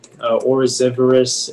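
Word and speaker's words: oryzivorous: Orosivorous is new. Yeah, it's new Latin plus Latin. Are there any alternate pronunciations?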